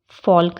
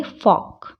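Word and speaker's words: folk: अब L कब silent होता है? जब वो AOU के बाद में आता है, जैसे काफ, L इसमें साइलेंट रहेगा, काफ़ी पढ़ेंगे, हाफ ही पढ़ेंगे, काम पढ़ेंगे, काल्म नहीं पढ़ेंगे, काम। वॉक, पाम, फॉल्क नहीं पढ़ेंगे, क्या पढ़ेंगे? फॉक।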